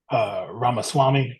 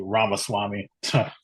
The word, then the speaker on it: Ramaswamy: If you pronounce it, Ramaswamy.